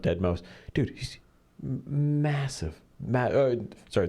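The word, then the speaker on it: deadmau5: It's spelled d e a d m- a u and then the number five but he calls himself dead mouse dude.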